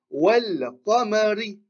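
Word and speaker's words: وَالْقَمَرِ: On voit la soukoun sur le lem, on la prononce, on la lit. On dit wal qamari.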